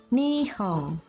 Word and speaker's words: Nihon: Huruf N diucapkan seperti no dalam bahasa Inggris. Tetapi, bila terletak di akhir kata atau suku kata, diucapkan eng. Contoh, ada kata Nihon artinya Jepang, diucapkan Nihong.